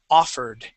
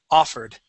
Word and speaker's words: offered: First off, we have the word offered. Okay, so the accent goes at the very beginning, and that O is an A sound. Offered.